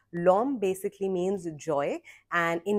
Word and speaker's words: Lawm: Pronunciation है L, I mean spelling is LAWM. Lom basically means joy and in Mizo, and this brand is called Lom from the Hills.